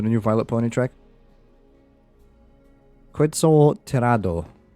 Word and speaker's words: Quetzal: Quetzal Tirado. It's pronounced an I for an I.